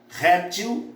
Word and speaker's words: réptil: Réptil, répteis. Só que essas duas palavras têm um problema. Essas duas palavras elas vão ter um probleminha aqui. Porque elas podem ser pronunciadas ou como paroxítonas ou como oxítonas.